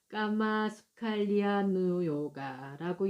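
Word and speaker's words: kāmasukhallikānuyoga: 예, 예, 빨리어 발음으로 까마수칼리아 누요가라고 얘기를 해요. 까마수칼리 아누요가 이제 이렇게 발음이 되는 거거든요.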